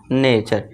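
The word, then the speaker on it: nature: ठीक है दोस्तों, नेचर, इसे नटरे नहीं पढ़ेंगे, इसका करेक्ट प्रोनाउंसिएशन होगा नेचर।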